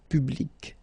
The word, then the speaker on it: public: So you can see that you get this final C and then you pronounce it, public.